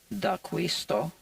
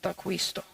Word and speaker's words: D'Aquisto: in that documentary so I believe that's how it should be pronounced even in Italian without it being Americanized I kept saying Theo